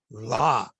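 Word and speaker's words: Lā: But that L was added by the English and Calvinist missionaries. Our L used to be pronounced with an R. So we always called that burning orb the Ra, right?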